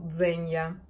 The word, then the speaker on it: Zegna: произношение эрмине джиндайджи дня в итальянском языке если после g стоит и оно произносится как g и z произносится как d поэтому ирмино джильда jenya